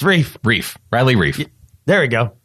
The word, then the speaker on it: Reiff: Yeah, and then he's rife with mispronunciations of his name. That's for sure. I might not even been doing it right. It's Reiff.